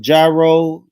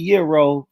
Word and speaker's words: gyro: Yo, it's called Gyro. You don't say big talk. I do my money. Yes, I do. Cuz I I used to say I ain't gonna lie. So big talk. I I did Euro for like probably the last five or six years.